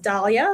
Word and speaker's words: Daliah: So my name is pronounced Dahlia.